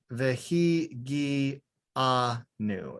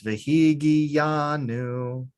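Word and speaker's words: וְהִגִּיעָנוּ: In this one, vehi gi anu. It would be more correct. Vehi gi anu. Mhm. But we kind of mumble our words. Vehi gi yanu.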